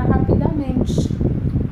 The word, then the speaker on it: rapidamente: No texto também temos destacado a palavra rapidamente. Rapidamente é uma palavra de 5 sílabas, cuja sílaba tônica é men.